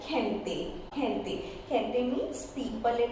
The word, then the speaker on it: gente: And when it is followed by I or E, then it will be very soft pronunciation, soft sound of G, like gente.